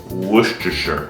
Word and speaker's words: Worcestershire: Ok, olha como esse molho se escreve e como se pronuncia. É Worcestershire sauce. Nem eu sei falar. Worcestershire sauce. Worcestershire.